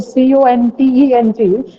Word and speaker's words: content: Many of you must, I have observed that many of you pronounce this word CONTENT as content, but the actual pronunciation of this word is content.